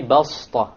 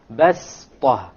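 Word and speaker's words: بسطة: You don't say بَسْطَةً. If you did, it's not a mistake, but it is preferred to say وَزَادَكُمْ فِي الْخَلْقِ بَسْطَةً. بَسْطَةً. Okay, so you don't pronounce it as a sad, you pronounce it as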